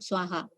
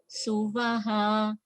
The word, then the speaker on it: Suvaha: Okay, so Om Bhur Bhuva Suvaha. It's not Swaha, Suvaha, because it is Bhuloka, Bhuvarloka, and Suvarloka. Okay, so Bhur Bhuva Suvaha Tat Savitur Varenyam Bhargo Devasya Dhimahi Dhiyo Yona Prachodayat.